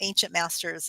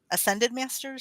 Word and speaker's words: ascended masters: It's not ancient masters, it's ascended masters.